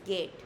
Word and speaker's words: geht: And it is geht. The h is very uh soft and silent.